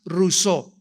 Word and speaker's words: Rousseau: mundo llamado Jean Ja rosau rosau o rousseau como lo quieran pronunciar en francés Jean Ja rousseau este hombre nació en